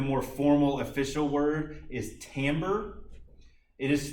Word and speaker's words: timbre: and probably the more formal official word is timbre it is spelled with an i t-i-m-b-r-e but is pronounced tambour or tomber if you want to be fancy and most